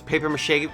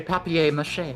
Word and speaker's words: papier-mâché: Did I pronounce paper mache correctly? You did, yeah. Okay. Good job. I don't know. If you're pretentious, you can say papier-mâché. Papier-mâché.